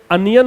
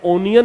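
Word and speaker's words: onion: है वो टमाटर है ये अनियन होता है ओनियन नहीं होता है अनियन अनियन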